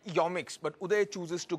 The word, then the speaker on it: Yomics: least 10 people and they all pronounced it yomix but who they chooses